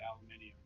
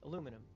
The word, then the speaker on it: aluminium: be that I think gramp always called it aluminium it's like after I've heard that a few times and it it's like aluminum it's like oh well oh yeah I didn't